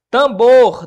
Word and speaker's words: tambor: Tambor deveria estar acentuado? Não, professor. Por quê? Porque tambor, para falar a verdade, sim, né? Tambor. Não, né? A sílaba tônica aqui é no bor, né? Não deveria.